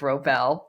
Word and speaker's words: Wrobel: I always tell people, act like the W is silent, but I've never gotten Jason Robards.